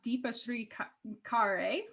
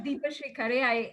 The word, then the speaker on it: Deepashri Khare: Thank you, and 10 on 10 for pronouncing that correctly. I'm Deepashri Khare.